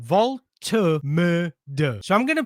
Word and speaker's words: Woltemade: So apparently you pronounce it Woltemade.